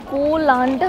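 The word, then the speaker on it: Koh Larn: এই কোলান আইল্যান্ডে যায় মানে কো লার্নটা হচ্ছে লোকাল মানে এখানকার ল্যাঙ্গুয়েজের উচ্চারণটা আমরা জেনারেলি কোরাল বলি কোরাল আইল্যান্ড খুব এক্সাইটেড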